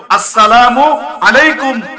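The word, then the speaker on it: السلام عليكم: সুন্নত তরিকায় সালাম দিবা সালামের শুরুর হামজা শেষের মিমকে স্পষ্টভাবে উচ্চারণ করবা এভাবে দিবা আসসালামু আলাইকুম না আসসালামু না আসসালামু আলাইকুম ওয়া রাহমাতুল্লাহ কিভাবে দিব আসসালামু আলাইকুম ওয়া রাহমাতুল্লাহ সালামের জবাব দেওয়ার সময় ওয়ালাইকুম সালাম নয় এভাবে দিব ওয়ালাইকুম আসসালাম কি বলেন ওয়ালাইকুম আসসালাম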